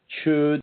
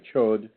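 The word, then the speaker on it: gcod: That's spelled C-H-O with an umlaut and D. So the chud or chod.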